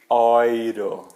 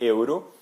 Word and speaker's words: Euro: deutchland Alemanha ou oo oiro tá eu sei que essa sua bastante estranho nesse momento né você tá sempre acostumado a ouvir Euro mas em alemão eles dizem oiro ou a Europa o